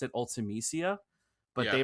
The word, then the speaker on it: Ultimecia: I think it was like Ultimecia, like that's how I've always pronounced it, Ultimecia, but Yeah. they pronounce it Ultimecia.